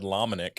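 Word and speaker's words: Lomenick: would always start about I'm your host Brad laminick and I'm like oh that's how you say it does Patrick have a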